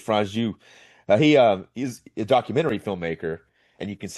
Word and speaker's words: Franju: George Franju. There you go. Good. I appreciate George you doing George Franju. that. It's Franju.